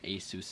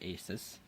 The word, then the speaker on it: Asus: Yes, everybody is so surprised when they learn it's pronounced Asus and not Asus.